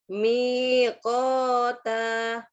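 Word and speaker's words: مِيقَاتًا: Mi-nya panjang. Ada ya dia. Inna yaumal fasli kami astagfirullahaladzim. Inna yaumal fasli kana miqota. Coba ya. Miqota.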